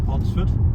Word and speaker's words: Pontesford: That was Pontesford. Not pronounced, but written as Pontesford. It's Pontesford.